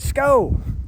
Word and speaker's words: SKO: In all reality, it's actually SKO, S-K-O. That's how you say it.